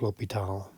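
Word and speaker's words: L'Hôpital: that goes over there but either way is pronounced l'hopital so if you remember some of these limits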